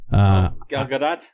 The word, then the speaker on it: Gal Gadot: Gal Gadot. Yeah, Gadot. Gal Gadot. Yes. She likes to pronounce a T.